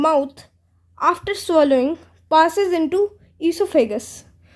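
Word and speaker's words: oesophagus: ईसोफेगस, इसको वैसे बोलते हैं ईसोफेगस, लेकिन इसकी स्पेलिंग है ओएसोफेगस, ऐसी।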